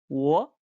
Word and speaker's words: 我: 我 Good.